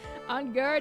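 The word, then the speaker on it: Engarde: On guard is usually how unguard is pronounced.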